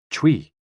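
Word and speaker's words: chui: associated with the lungs c-h-u-i pronounced like tui with a forceful exhale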